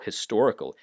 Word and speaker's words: historical: Historical, a history, but usually for the adjective historical here, you pronounce it so fast that you almost don't even hear the H.